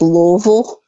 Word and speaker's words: Louisville: It's kind of like when people say Louisville or Louisville, and it's Louisville.